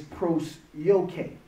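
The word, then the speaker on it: προσευχή: Prayer in the Greek, the word is prosyoke. Prosyoke is spelled P-R-O-S-E-U-C-H-O.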